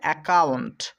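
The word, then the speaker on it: account: আমরা পড়বো সি ও ইউ এন টি একত্রে উচ্চারণ করব কাউন্ট তো সব মিলিয়ে হবে একাউন্ট একাউন্ট পরের ওয়ার্ডটা দেখো এ সি ইউ কিউ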